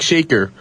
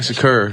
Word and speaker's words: Shakur: I thought his name was Tupac Shaker. That's what I thought his name was. And now you're a rapper, so now you know how to pronounce it. It's Tupac Shakur.